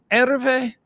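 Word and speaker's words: Hervé: to pronounce it correct ER V ER V that's the French pronunciation ER vich V it's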